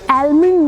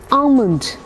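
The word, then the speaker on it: almond: आलमंड नहीं होता है। आलमंड भी नहीं होता है। एक्चुअली जिसका एल है ना बेकार में ही डाल दिया। क्योंकि प्रोनाउंसिएशन में एल की साउंड है ही नहीं। आमंड।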